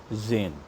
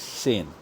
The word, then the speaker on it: zehn: So, sane, it's pronounced as sane and not Zain.